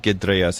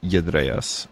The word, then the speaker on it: gedreas: I would that GE at the beginning, that particle at the beginning of the verb, like it's not gedreas, it's yedreas.